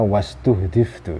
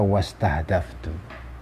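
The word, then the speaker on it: واستُهدِفتُ: Wastuhdiftu, ini saya membacanya wastuhdiftu ya, bisa juga dibaca wastahdaftu. Tapi setelah saya pikir-pikir maknanya mungkin lebih tepat kalau dibaca wastuhdiftu.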